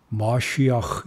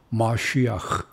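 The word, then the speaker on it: משיח: 약속을 하신 겁니다 마슈는 우리는 메시아라고 말을 하는데 정확히 브리는 마쉬아흐 이렇게 발음을 해야 됩니다 마쉬아흐 이전부터 하 엘로힘 그분께서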